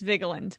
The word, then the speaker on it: Vigeland: That's the way I pronounce it. Right. Vigeland. It's Vigeland.